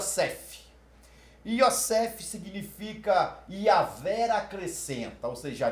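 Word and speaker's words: יוסף: então vamos lá josé m hebraico e se pronuncia cef yossef significa iaver acrescenta você já viu os acrescenta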